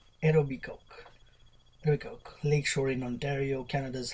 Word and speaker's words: Etobicoke: by politician Jean Austine representing the writing of Etobicoke so it's spelled e o b i c o k e Etobicoke lak Shore in Ontario Canada's House of Commons